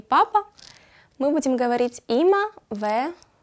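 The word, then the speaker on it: אמא: На иврите звучит как има и пишется достаточно просто. Всего две буквы. Алеф, мем, алеф. Читается има.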